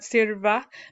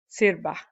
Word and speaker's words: sirva: And the V is sometimes pronounced like sirva, but for exactly absolute standard Spanish, the V would be pronounced like a B, like a very soft B, sirva.